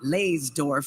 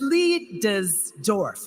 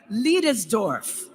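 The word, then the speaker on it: Leidesdorff: I've been calling it l dorf for years but it's Lees dorf let's say it together leis dorf kind of sounds a little German huh do you think they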